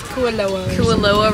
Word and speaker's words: Kualoa: Alright, so we finished our tour at, I feel like we're saying it wrong, it's not Kalua, it's Cal, how is she saying it? Kualoa Ranch, where they filmed all the movies.